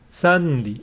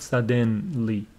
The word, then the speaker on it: suddenly: It is suddenly. It is not suddenly. Suddenly. There is nothing between d and n. This vowel is not pronounced suddenly.